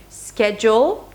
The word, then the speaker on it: schedule: Schedule, 2 syllables, and schedule, 3 syllables.